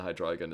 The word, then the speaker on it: Hydreigon: I disagree with the official pronunciation. Hydreigon is better.